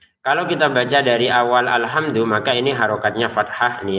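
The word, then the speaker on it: الْحَمْدُ: Kalau kita baca dari awal alhamdu, maka ini harokatnya fathah nih ya.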